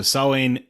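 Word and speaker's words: Samhain: the holiday salon uh saline is not spelled the way it sounds it is spelled s-a-m-h-a-i-n even though it is said not like that at all so sawing uh it would be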